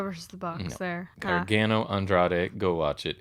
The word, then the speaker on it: Andrade: oh he butchered it he cannot say andrade love to save his life he literally starts and what he calls him andre i think andre de